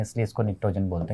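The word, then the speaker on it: pnictogen: ये आपके पास में नाइट्रोजन फैमिली है, और दोस्तों देखिएगा इसी को हम निक्टोजन भी कहते हैं, निकोजन भी बोलते हैं इनको। ओके, ये निक्टोजन्स भी हैं आपके पास में, पी साइलेंट रहता है यहाँ पे कि ये जो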